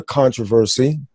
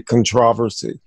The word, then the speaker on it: controversy: a bit of a controversy. I said it right this time, Emily. I didn't say controversy. She says I put the syllable on the wrong, I put the emphasis on the wrong syllable.